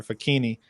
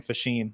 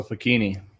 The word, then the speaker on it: Facchini: But I've tried to reclaim the Italian pronunciation of it, which is it's like zucchini but with an F. Yeah. So Facchini.